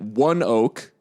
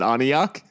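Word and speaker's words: ONEOK: Field we learn this thank you to Kenzie AR for the uh for the pronunciation guide um from the C cuz I think we said anok we're like anok I said I might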